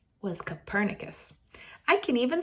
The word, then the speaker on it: Copernicus: figurin his name was Copernicus I can even spell it for you if you're a mind Chad made me learn how to say it and spell it - sounds like a burner Jethro nodded I allow